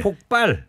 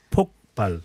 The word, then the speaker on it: 폭발: 그리고 자꾸 이 폭발이 아니고요. 네. 폭발. 아, 폭 경음으로 발음해 주셔야 돼요. 아, 폭발.